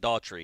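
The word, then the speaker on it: Dougherty: But they're going to bring in the young man from Doherty, Georgia. Cam Davis. So yeah. I'm excited to see Daughtry. I think we Daughtry? pronounce it Daughtry.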